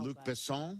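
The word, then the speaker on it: Luc Besson: Luke Besson. Luke Besson. Ah, but how did you I thought I Americanized it. Uh, yeah, she wrote she wrote it's Luke Besson.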